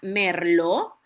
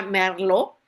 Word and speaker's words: merlot: Sabemos que se escribe con una t al final merlot, pero se pronuncia merló, o sea, que más francés sería merló, verad, como que una r colocha, no pronuncia, no se pronuncia la t, ¿verdad?